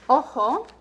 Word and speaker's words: ojo: O is always pronounced O, so never A, and never anything else. So we have examples in the words ojo, ojo, and you probably recognize the color rojo.